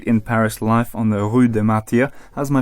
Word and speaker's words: Rue des Martyrs: The only Street in Paris life on the rud de Mar how's my pronunciation James that's pretty pretty good you say it always sounds better from a from a native it's the rud de Mar I've actually got a question for you um